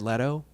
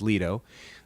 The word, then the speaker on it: Leto: Because if you had ever once said to me, Jared Leto, who I always thought it was Leto, there was a whole radio show on how you pronounce his name. But it's Leto.